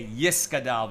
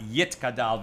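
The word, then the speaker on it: יתגדל: And in most of the minyanim where I go to say Kaddish, people say Yis Gadal v'Yis Kadash, not Yit Gadal v'Yit Kadash.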